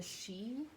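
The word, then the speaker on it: Sidhe: this description description box because it's spelled s-i-d-h-e so it's like a little you know um it's kind of like i guess tricky to find i guess by just hearing it but um that's this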